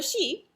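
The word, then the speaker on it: síd: those people are the she and it's spelled a few different ways i spelled it like the sort of most common spelling i think your book only says s-i-d but it's pronounced she and it's people like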